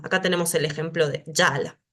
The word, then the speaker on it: jala: tenemos el ejemplo de Yala no decimos jala decimos Yala siempre estas jas en sánscrito se van a pronunciar como una ya entonces patanjali no se